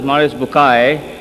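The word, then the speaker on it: Maurice Bucaille: and a scholar of quran dr maurice bukhail pronounced as maurice bukai am i right doctor doesn't matter okay he's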